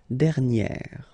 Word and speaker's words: dernière: Okay, and you will get dernière. Alright, so keep in mind that you should put this accent grave and then you pronounce it like eh, okay, and then you add this at the end.